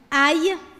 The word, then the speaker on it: ail: Ail.